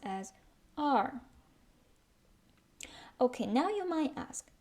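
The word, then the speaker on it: 二: It pronounced as r.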